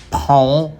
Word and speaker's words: pão: So it's called pão com linguiça e ovo, or to use the correct Brazilian pronunciation, pão com linguiça. That accent on the A is so difficult to pronounce for English speakers.